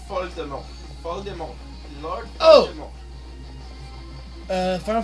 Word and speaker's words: Voldemort: Sounds better if you pronounce it closer to how it would be in French. Lord Voldemort sounds... Oh, he sounds French when you pronounce him in French. It's Voldemort.